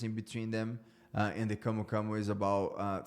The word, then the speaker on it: camu camu: in Brazil, your native country, which is called camu camu. Am I pronouncing that right?